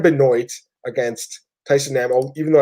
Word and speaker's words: Benoit: court Ryan Benoit annoys excuse me not Chris Benoit that's Ryan binoy against Tyson ammo even